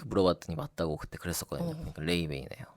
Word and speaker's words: Laufey: 제가 조금 전에 얘기했던 뮤지션은요 레이베이라고 읽네요. 레이베이. 발음이 참 특이하죠.